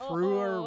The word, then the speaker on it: Fruer: Fruer rhymes with brewer.